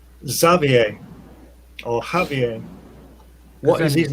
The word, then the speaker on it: Xavier: But his name is Exiber, but I would say his name was Javier.